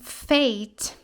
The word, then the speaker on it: fake: nós temos fake ok Por que que nós pronunciamos assim porque nós temos um Magic e aqui no final que antes dele nós temos uma vogal né sozinha então o que a gente vai fazer ele vai puxar o som longo dessa